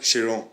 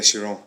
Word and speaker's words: Chiron: No, it's called Chiron. Okay, Chiron. Yeah, a lot of people pronounce it wrong with like Chiron or like Chiron. No, it's called the Chiron.